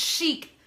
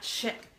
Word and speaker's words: chic: Yes, it's chic. Chic, not chick. It's the chic site. Why do I need help with pronunciation, Brittany? Help me. Sanctify my mouth, babe. I always say chick and it's chic.